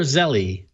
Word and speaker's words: Zelle: Is that Zelle or Zelly? I pronounce it Zelle.